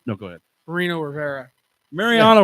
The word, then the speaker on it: Mariano: go ahead Marino Rivera Mariano Rivera not Marino you can't say his